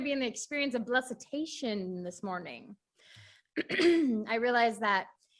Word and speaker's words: Blessitation: to say it okay say hesitation now say blessed now say blessitation okay i had to